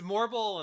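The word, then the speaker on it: Malboro: how you say it yeah it's morbal in this game but it's like marble you know what I'm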